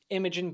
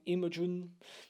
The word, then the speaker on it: Imogen: didn't see coming and Imogen Poots that's how you say her name Imogen she's pretty gorgeous even